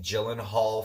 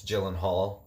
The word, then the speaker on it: Gyllenhaal: I've always been a Jake Gyllenhaal fan myself, and that's Gyllenhaal, not Gyllenhaal.